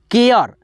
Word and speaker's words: care: यहाँ पे देखिए CARE, ए लगा है, फिर भी यहाँ पे ए अ का उच्चारण आएगा, केयर, CARE, केयर।